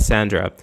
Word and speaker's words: Sandra: pronounced Sandra as in Cassandra all right Sandra so hola Sandra how are you nice